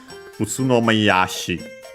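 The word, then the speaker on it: 宇都宮市: So in Japanese, simply Utsunomiya-shi with the shi suffix. We have seen that the accent of that, when we add the shi suffix, yeah, the accent is before shi itself. Utsunomiya-shi.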